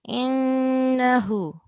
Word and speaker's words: إنه: Innahu. So we do not prolong the fatha. We only do nasal sound when we are joining alif and noon.